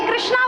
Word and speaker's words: কৃষ্ণ: উচ্চারণও করতে পারে না হরে কৃষ্ণ তারা কি বলে হরে কৃষ্ণা হরে কৃষ্ণা কৃষ্ণা কিন্তু কার নাম বলুন তো দ্রৌপদীর আরেক নাম কৃষ্ণা হ্যাঁ ভগবান ভালোবেসে তাকে কৃষ্ণা বলতেন সখী কৃষ্ণ কৃষ্ণা দুজন আলাদা কিন্তু তারা উচ্চারণ পারে না সেটা তাদের অক্ষমতা তাদের দোষ হবে না কিন্তু যারা জেনেও মানে আমরা বাঙালি যারা উচ্চারণ করতে পারি কৃষ্ণ তারাও কৃষ্ণা বলছি তাদের কিন্তু নাম বিফলে